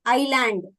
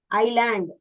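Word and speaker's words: island: we pronounce it as isand they are saying s is silent what is the purpose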